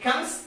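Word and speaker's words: comb: letter b and it comes after the letter m what i said as per the rule that if the letter b comes after the letter m then the letter b becomes silent so b o m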